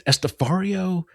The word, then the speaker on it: Estepario: It's Estepario. Estepario. It's so hard because it's a weird name, and and it's the pronunciation is very specific.